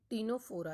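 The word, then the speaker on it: Ctenophora: Next phylum है टीनोफोरा. यहाँ पर सी साइलेंट रहता है.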